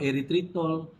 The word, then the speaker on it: eritritol: dua ialah kita masukkan eritritol eritol ada sebut er tritol kalau Jawa er tritol kalau negeri semilanbut lain kan kalau macam ni eritritol ikutlah nak sebut tapi dia punya ejaan dia e er r y t h r i t eritritol eritriton ni apa ialah